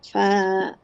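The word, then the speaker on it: فاء: আচ্ছা, উপরে দুইটা যে দাঁত ওটার আগার সাথে লাগাইয়া ফা। আমি আবার বলি। নিচের হ্যাঁ ঠোঁট বলেন। উপর, হ্যাঁ, নিচের ঠোঁট, নিচের ঠোঁটের হুম, পেট। নিচে, সরি, নিচের ঠোঁটের পেট উপরে দুই হ্যাঁ দাঁতের আগার সঙ্গে লাগাইয়া ফা।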